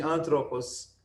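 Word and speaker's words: ἄνθρωπος: O acento agudo, como falamos, só pode cair na antepenúltima sílaba, quando a última for breve, é o caso de antropos.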